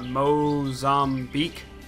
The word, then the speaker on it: Mozambique: We're going to go to Mozambique. That's how you pronounce it.